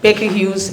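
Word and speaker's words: Baker Hughes: aquin and yes the correct pronunciation of my company that is an american company is becky hughes and we're in over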